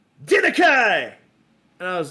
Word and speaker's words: Denakhai: I have never forgotten that pronunciation of my last name. Never. So I thought that was kind of cool. And so I kind of forced the pronunciation using the K and the H and the A and the I. And I was using it